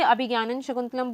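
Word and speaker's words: अभिज्ञानशाकुन्तलम्: Token of remembrance he ring है, और अभिजनन शकुंतलम का मतलब भी टोकन ऑफ रिमेम्बरेंस ही होता है। कुछ लोग इसे अभिज्ञानन शकुंतलम बोलते हैं, सो the pronunciation is different.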